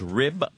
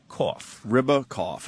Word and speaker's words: Ribakoff: It's just like it sounds. Ribakoff. Ribakoff. Okay. Like ribs with a cough.